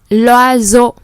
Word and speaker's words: l'oiseau: L'oiseau. S entre les deux consonne. Chữ S nó nằm ở giữa hai nguyên âm là I và E. Thế nên chúng ta đọc là Z. L'oiseau A, B ou C.